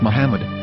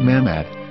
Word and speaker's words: Muhammad: after the H according to Ben yehuda's Hebrew English dictionary it is correctly pronounced as Muhammad not mammad so how we're going